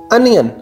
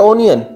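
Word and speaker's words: onion: अनियन नॉट ओनियन। एक ही pronunciation अनियन, अनियन। ओनियन wrong, अनियन correct pronunciation है, अनियन, अनियन।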